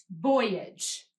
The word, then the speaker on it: voyage: which we pronounced AG did you hear which syllable was accented or said more loudly it was the syllable boy when we pronounced it